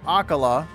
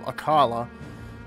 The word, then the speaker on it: Akkala: out but anyway we're going to akala I think is how they say it instead of aala but uh apparently something's